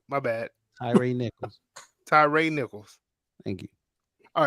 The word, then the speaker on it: Tyre Nichols: But Tyrese Oh, speaking of Tyrese Nichols, and I want to Tyrese Nicholls.